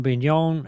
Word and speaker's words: Bignon: last name b-i-g-n-o-n that's like a big non there you go confessions